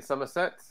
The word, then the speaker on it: Somerset: For our American compatriots here, Somerset is pronounced Somerset. Apologies to any of our Somerset based listeners for Jeff's comment there.